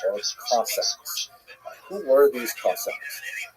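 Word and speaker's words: Cossacks: Who were these cosacs? Kossaks or Kak to use the Ukrainian pronunciation were basically uh Ukrainian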